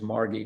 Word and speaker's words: Margie: even it was margaret it was never margie it was always margie with a hard g or marg or marger dear bess and margie